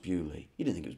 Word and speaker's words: Beaulieu: Of course it's pronounced Beaulieu.